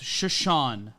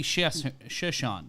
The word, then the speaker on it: Chiasson: Matt, it's pronounced Chiasson. Oh, yeah, sorry. The phonetics here. There's no phonetics guide, so it's Macy Chiasson. See, Chiasson, you would see that, but the double S always fucks me up, which is why I like pronunciation guides.